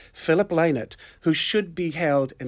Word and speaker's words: Lynott: Lynott is a bird, they keep telling me in rehearsal. Okay. Lynott is a bird, and Lynott, as in lie not, is what Philip Is tells us. how it's pronounced.